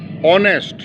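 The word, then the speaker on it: honest: ऑनेस्ट, तो एन ऑनेस्ट मैन कहा जाएगा, यहाँ पर भी एच साइलेंट है।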